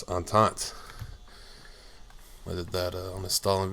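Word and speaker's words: entente: on taunt I didn't I always said it was intente until you know I read Stalin saying it and then I looked it up and it's on taunts whether that on the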